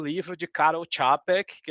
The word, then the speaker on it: Karol Čapek: Aí, isso aqui de 1923 eu tenho que dizer para vocês, leiam o livro de Karol Čapek, que é a pronúncia desse cara aí, chamado A Fábrica de Robôs.